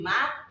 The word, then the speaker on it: my: They pronounce the word into ma, then ma. So how do they say it? They'll be like, it's my pen.